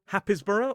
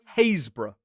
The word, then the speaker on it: Happisburgh: So is it Hapisborough? No, of course it isn't because well English pronunciation. It is Hazbor.